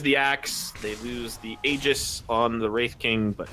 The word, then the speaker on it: Aegis: Aegis. Thank you. Like you literally just said it. That was. You know, that was a big controversy. It's got a tooltip now. Aegis. Pronounced as Aegis.